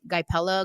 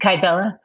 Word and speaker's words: Kybella: for me to do i can never pronounce it right guy pella guy what is that called kybella kybella there you go so she she suggested